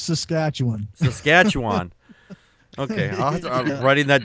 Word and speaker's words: Saskatchewan: Yeah, it's pronounced Saskatchewan.